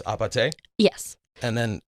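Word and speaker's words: 아파트: played so it's short for apartment but it's pronounced apate yes and then it's because in Korean um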